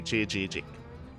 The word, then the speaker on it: Chijik: So from my understanding, the way to pronounce it in Korean, because it is a Korean word, is the double Z's. You pronounce each one with like J-I. That's why I say Chijik.